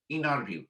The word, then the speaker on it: interview: is sometimes pronounced as inner view so this t is silent and it is called